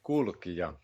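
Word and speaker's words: Kulkija: We saw you here in Adelaide on the tour promoting your previous album, and that was called Kulkia. Mm-hmm. Did I pronounce that correctly? Quite good, Kulkia.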